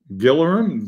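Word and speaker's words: Gillingham: Gillian football team is pronounced by us locals as Gillerin Gillerin I don't know.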